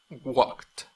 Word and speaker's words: walked: No pronuncia walked, walked, porque termina en una K, no termina en una T, ni termina en una D.